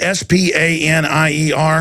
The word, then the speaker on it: Spanier: Is that how you pronounce it? S-P-A-N-I-E-R.